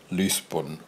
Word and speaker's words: Lisbon: Like instead of saying Lisbon, you say Lisbon, like you're talking about Leith in Edinburgh.